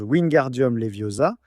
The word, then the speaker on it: Wingardium Leviosa: Mais en réalité, ce qu'il prononce mal dans le livre, c'est le gare de Wingardium. Alors, Hermion lui dit "Le gare est long et prononcé."